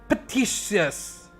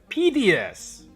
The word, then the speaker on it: piteous: Petitious ya? Bener nggak ya pelafalannya? Bukan petty, memilukan. Then how to spell that? Piteous. I see. Arigatou gozaimasu. Piteous. Saya salah pelafalan.